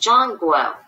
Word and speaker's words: Zhongguo: The central land is pronounced Zhongguo.